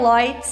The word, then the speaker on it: Leutz: Lloyd, eu acho que me conhecem mais por Lloyd nas redes sociais, essa pronúncia, né, como um português sábio, é o Lloyd.